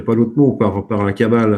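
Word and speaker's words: Cabale: Kabbale, elle s'écrit C-A-B-A-L-E, par opposition à la Kabbalah, qui s'écrit avec un K. Et c'est effectivement ce que tu disais tout à l'heure, Jean-Pierre, il faut distinguer les deux, évidemment, mais ça se prononce de la même façon, donc on est obligé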